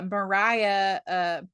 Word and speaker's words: Maria: And Mariah, it's spelled like Maria, but I'm pretty sure Oh they yeah, pronounce it that's right. It's Mariah. Mariah. It is Mariah.